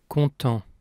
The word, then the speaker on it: content: Content. The final T is silent, like most final consonants in French, the exceptions being the consonants in the word careful, C, R, F, and L.